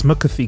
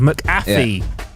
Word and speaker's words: McAfee: John mccy nice I like the way you pronounce mcfi correctly instead of mcy which is what I've done most of my